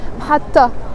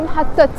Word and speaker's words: محطة: It has a T مربوطة in the end. It's a T that we don't pronounce محطة, but we don't say محطت.